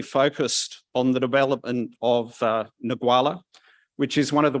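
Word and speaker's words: Ngualla: And I'm going to let you pronounce the name of the start. Go on, just once for me. Nagwala.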